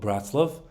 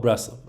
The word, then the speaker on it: Breslov: sorry in Ukraine uh in Ukrainian I think it was called Bratzlov and but we call it Braslov. I think that was the Hebrew way of pronouncing the word.